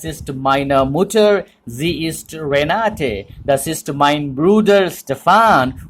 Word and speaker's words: Renate: If it is English, you can very much pronounce it like Renate. Okay, but not in German. In German, it will be pronounced as Renate.